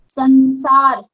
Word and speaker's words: संसार: संसार, संसार, सन, आधा न, नाक से प्रोनाउंस हो रहा है ना, नाक से प्रोनाउंस हो रहा है, तो यहाँ पे डॉट लगाना है।